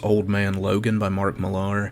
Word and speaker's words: Millar: man logan by mark millar that's how i've always pronounced his name it could just be simply mark miller but since there's an a in there i've always said mark milar old man logan is